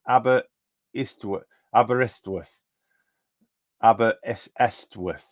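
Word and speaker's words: Aberystwyth: this year says flyo by the way Jason abber sorth is pronounced abber istw abber sorth abber estw worth yeah so someone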